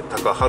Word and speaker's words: 高原: っぱの原と書いて高原と読みますね、そこに行きたいと思います。